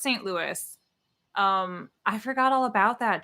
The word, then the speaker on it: St. Louis: It's pronounced St. Louis.